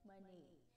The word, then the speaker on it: Manet: Yeah, you heard it right. It pronounces Edouard Manet, 1832 to 1883.